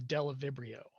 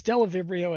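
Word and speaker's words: Bdellovibrio: And so a classic example of this is a group of proteobacteria called the Delavibrio. The B is silent. And it's Delavibrio as well as Delavibrio-like organisms.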